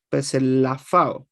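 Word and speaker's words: ψηλαφάω: Pero se pronuncia como una, arrastrando, ¿cierto? La P, como arrastrando hacia una S, que sería peslafao, peslafao.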